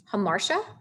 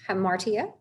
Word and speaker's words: hamartia: the syllable is bolded, that you should be pronouncing it louder. So anagnorisis, catharsis, fatal, fate, hamartia or hamartia, hubris, peripetia or peripeteia, and pathos or pathos.